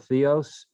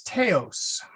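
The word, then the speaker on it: θεός: don't think the word theos is a word in greek it is but it's okay it's teos it's not theos it's teos if i'm not mistaken so it's an anglican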